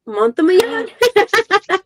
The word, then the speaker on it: Montemayor: So we got the Cozy Coven every Thursday nights with Sarahjane Montemayor. Yep, Montemayor.